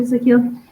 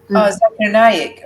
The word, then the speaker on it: Zakir Naik: Zakil? He's an Indian imam. He answers questions and things like that to really big audiences, and he's memorized. Zakir Naik.